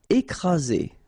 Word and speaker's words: écraser: Écraser. Okay, double vowel, only one S, Z, and then you get the first accent aigu, écraser.